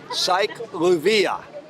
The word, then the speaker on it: CyLouvia: cobia cyclic lluvia aciclovir i pronounce this event sike lluvia with the emphasis on the loo as in would no matter how you